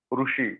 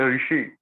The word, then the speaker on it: Rishi: It's not a Ru, Rushi. No. It's a Rishi.